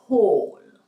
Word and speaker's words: whole: Et d'où l'utilisation de his or her story et whole, W-H-O-L, pour dire entier, mais ne prononcez pas le W. Par contre, vous devez prononcer le H de whole.